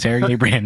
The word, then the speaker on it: Sergey Brin: Not gonna say which one, but it rhymes with Vergay Grin. Does it? Sure. It's Sergey Brin.